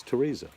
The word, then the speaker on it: Theresa: Teresa. I don't know why they put silent words and names and words. Like, that is not Theresa. It's Teresa, but they have a H in there.